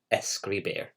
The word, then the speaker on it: escribir: I can definitely hear the S at the beginning and the beer at the end.